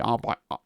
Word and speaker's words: Arbites: a long time, but I know it's supposed to be Arbites or Arbites to rhyme with Custodes and Astartes and all the other things that end in A's and not bites, but I'm going to say Arbites, right?